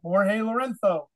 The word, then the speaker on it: Jorge Lorenzo: it in English but the proper Spanish way of saying the Z is like a th so it's really Jorge Loreno that's the proper Spanish